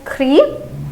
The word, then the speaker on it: grise: So it is G-R-I-S gris. It is G-R-I-S-E gris. The pronunciation will again change here.